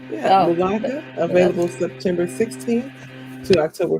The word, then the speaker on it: Mulaka: You get Mulaka. Is that how you pronounce it? Mulaka? That's how I would say it. Yeah, Mulaka.